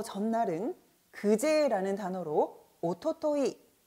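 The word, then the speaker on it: 一昨日: 자, 일단 어제보다 하루 더 전날은 그제라는 단어로 오토토이, 오토토이라고 하고요.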